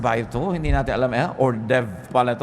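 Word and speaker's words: hors d'oeuvre: ba hindi niyo alam kung ano ba to orde verse ba ito Hindi natin alam ordev pala ito o kung ano man Ba't h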